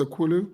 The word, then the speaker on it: Okwulu: right so i said your name okulu yeah so told me who is did